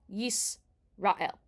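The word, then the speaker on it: ישראל: In the word Yisrael, the sin has a shva nach underneath. That is a no vowel shva. And it's just Yisrael.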